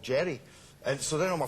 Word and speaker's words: Gerard: And I said, well, you say just Jerry, because when Americans say Gerard, it drives me crazy.